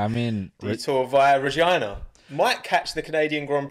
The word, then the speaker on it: Regina: town in canada called regina yeah and that's how it's pronounced it's pronounced no no no man it's pronounced like vagina bro i'm going to canada